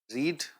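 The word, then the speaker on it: read: रीड ऐसे होती है, जैसे गो वेंट गॉन होता है, वैसे रीड रेड रेड होता है।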